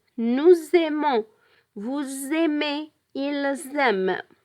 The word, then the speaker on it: nous aimons: we have to say nous aimons, vous aimez, ils aiment. We pronounce the Z sound because we make liaison between the S and the A of the verb aimer.